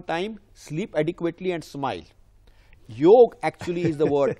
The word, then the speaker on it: yoga: Yoga actually is the word, A is silent in yoga.